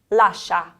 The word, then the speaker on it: lascia: So these top words here are all blended.